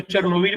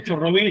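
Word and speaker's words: Chornobyl: Digo Chernobyl y me comento, no digo Chernobyl porque el nombre que todos sabemos de Chernobyl es la rusificación del nombre. En ucraniano se dice Chernobyl, yo bueno, adhiero obviamente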